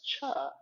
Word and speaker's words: Chih: called tai chi cha that third little word is pronounced cha like Chuck Wagon I love food metaphors